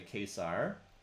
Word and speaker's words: Caesar: He did pronounce Caesar correctly in Latin, which is much closer to Kesar.